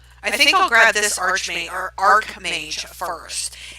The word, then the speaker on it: Archmage: It's Arc like A-R-C, not Arch like it's spelled. Which I think is weird. You know, why is it the way it is? Why isn't it said the way it's spelled?